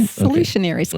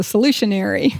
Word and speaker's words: Solutionaires: Solutionaries. Kind of like a passionary or missionary. It's a solutionary and the author of her second book uh the gratitude overcoming loneliness in a disconnected world.